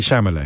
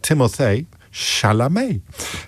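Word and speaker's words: Timothée Chalamet: Timothy Shamlet is the focus of this one.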